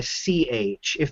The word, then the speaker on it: Qi: sort of like a CH if the X is like sh then the Q is like CH so Qi is chi in fact the the